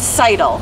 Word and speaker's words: Seidel: For people who may be wondering, like, am I saying Molly's name wrong? No, I'm not. In fact, even FloTrack and other places have messed this up. This has been how a thing you say it? For years. It's Seidel. Seidel like title, just straight through.